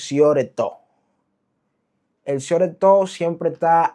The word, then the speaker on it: shortstop: inglés y español, porque en inglés la pronunciación correcta sería shortstop pero nosotros aquí lo que decimos es siore to.